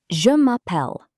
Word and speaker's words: je m'appelle: The most common expression is je m'appelle. Pronunciation? Je m'appelle. Je m'appelle means my name is.